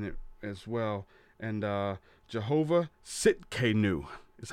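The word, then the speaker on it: Tsidkenu: the Hebrew in it as well and Jehovah sitk a new is how that's pronounces TS idk en you Sitka new Jehovah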